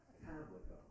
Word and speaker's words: Pamlico: Pamlico. Yes. Pamlico. So the accent is on the first syllable. Yes, and it's not leak, it's lick.